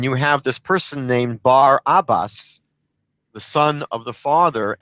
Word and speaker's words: Barabbas: Now most Christians or most readers pronounce his name Barabbus but really the correct pronunciation would be Bar Abbas um which translated means the son of the father which is a very